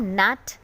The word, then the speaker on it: gnat: GNAT को हम नैट और GNASH को हम नैश प्रोनाउंस करेंगे.